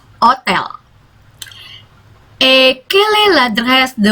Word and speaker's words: hôtel: Bacanya bukan hotel tapi hotel.